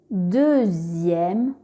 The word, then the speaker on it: deuxième: X peut faire le son Z comme dans le mot deuxième.